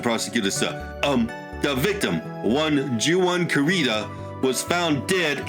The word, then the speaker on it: Juan: the victim Juan karita one is pronounced one oh yeah sorry uh taking Mr prosecutor sir um the victim won Juwan karita was found